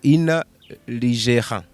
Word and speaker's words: InaLigera: riranagoye kuvuga ukuntu sindarimenyera oya pronunciation yanyayo kuri ni ligera ni ligela ni Ligera. Ni Italiane ni Spanish. Ni Espanyol. Inaligela. Ligera. Muga kesho usanga nyene kubera pronunciation ngo ligera. Oya tunakora nakupa ngo ina ligera. Oya ni inaligera.